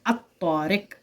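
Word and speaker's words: الطارق: silent हो जाती है लाम को नहीं पढ़ा जाता है इसीलिए हम पढ़ते हैं अशम्स इसीलिए हम पढ़ते हैं अतारिक इसी तरीके से हम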